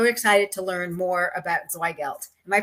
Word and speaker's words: Zweigelt: and i'm so excited to learn more about zweigelt am i pronouncing that right okay yes okay um christina